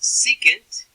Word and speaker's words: secant: It's pronounced secant, but it is abbreviated SEC for Southeastern Conference.